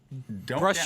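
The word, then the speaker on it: Bruges: we're pronouncing that right Bru yeah we say is it with the S or without the S I never um in French it's Bru and in Dutch it's Brer Bru it is so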